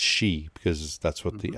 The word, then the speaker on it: Xi: know what i want to say but it's she because that's what the x is so anyway